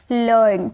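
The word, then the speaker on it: learn: For example लर्न। अब देखिए यहाँ पर EA के बाद R आया और R के बाद कॉन्सोनेंट आया तो इसे हम अ में प्रोनाउंस करेंगे लर्न।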